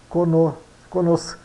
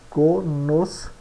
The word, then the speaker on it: conoscenza: Conoscenza, né? Mas no italiano, não, aqui fica junto, ó.